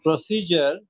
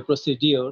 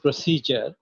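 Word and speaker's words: procedure: goat three synonyms at least from three people and প্রসিজার তুমি সঠিক উচ্চারণ করেছ স্পেলিংটা হচ্ছে পি আর ও সি ই ডি ইউ আর ইটাকে অনেকে অনেক লোকেরা বলে প্রসিডিউর which is wrong wrong pronunciation বাকি যারা আছো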